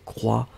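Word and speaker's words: croient: E-N-T n'est pas prononcé, donc il croit au pluriel.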